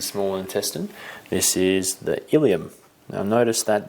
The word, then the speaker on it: ileum: intestine this is the ileum now notice that this has a similar pronunciation to that of the pelvic bones but it's spelt differently spelt with an e